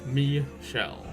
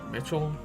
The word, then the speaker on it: Michelle: Just because there has been a little confusion, Michelle is pronounced Me-shell. Sorry about that. Yeah, I guess at first glance people would have thought it said Mitchell.